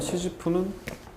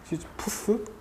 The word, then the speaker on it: 시지프: 이 시지프 신화에서 말하는 시지프는 불어식 발음인데 보통 우리가 시지프스라고 하죠. 시지푸스?